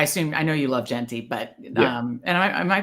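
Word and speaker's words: Ashton Jeanty: just like I assume I know you love jenty but um and am I pronouncing it right it's Ashton jenty right yeah okay um so for this you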